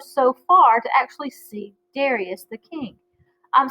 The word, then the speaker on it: Darius: far to actually see Darius the King I'm some people call that de Reyes you may hear that pronounced that way in other places so that is him